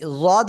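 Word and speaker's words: ض: শুনতে পাই জোরে জোরে পড়বেন ঠিক আছে এই জদ অক্ষরে তিন আলিফ টান কয় আলিফ টান এক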